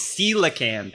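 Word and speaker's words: coelacanth: in this I'm sorry is it celan it's celan yes it's spelled like colia camp but it is in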